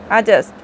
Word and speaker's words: adjust: ADJUST, আজাস্ট, যার অর্থ বিন্যস্ত করা। এগুলো সব, এই অক্ষরগুলো প্রত্যেকটায় এরপরে ডি আছে, কিন্তু ডিটা উচ্চারণ হচ্ছে না, কিন্তু আমি ছোটোবেলা থেকে এতদিন পর্যন্ত এই ডিটা উচ্চারণ করে করে পড়ে এসেছি।